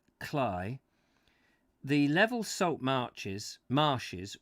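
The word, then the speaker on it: Cley: read anyway beyond chroma from clay next the sea which norfolk men pronounce cly the level salt marches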